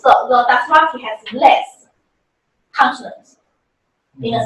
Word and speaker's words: Dothraki: How do they pronounce this language? Dothraki.